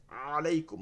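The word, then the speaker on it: عليكم: আলাইকুম, আইন থেকে আলাইকুম।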